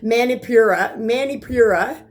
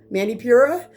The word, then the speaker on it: Manipura: And in Sanskrit, it's called, I'm going to hopefully pronounce this one correct, Manipura, Manipura, and it stands for lustrous and gem.